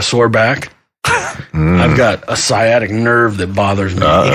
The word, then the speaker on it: sciatic: I've got a sciatic nerve that bothers me. You got your static nerve.